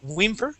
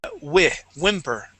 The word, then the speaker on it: whimper: Okay, it would not be whimper, whimper, but whimper, just like window, whimper.